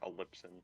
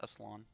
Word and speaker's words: epsilon: i in that word i thought it was like a lipson but yeah i know you're talking no i'm pretty sure it's pronounced epsilon it might be i just